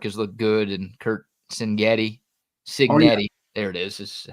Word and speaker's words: Cignetti: Yeah, I know Curtis Rourke has looked good, and Kurt Cignetti. There it is how you pronounce his name.